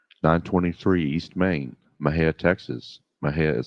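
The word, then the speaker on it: Mexia: M&J audio theater 923 East Main Maha Texas Maha is spelled m x i a our ZIP code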